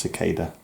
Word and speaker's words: cicada: die for the flash the cult of kikeda sikkay dub things pronounced cicada it's like a beetle